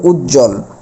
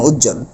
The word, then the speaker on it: উজ্জ্বল: তখন এই ব এর কোন উচ্চারণই হবে না। অর্থাৎ বফলার কোন উচ্চারণ হবে না। তখন স্বাভাবিক উচ্চারণটা কিরকম হবে? উজ্জ্বল। এই যে উজ এই যে জল স্বাভাবিক উচ্চারণ উজ্জ্বল।